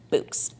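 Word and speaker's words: Bouqs: Pronounced Books. That's short for bouquets, obviously.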